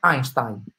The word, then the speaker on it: Einstein: come einstein non sta nessuno nessuno e si pronuncia einstein facciamo insieme un due tre einstein aveva einstein che dice in realtà voi non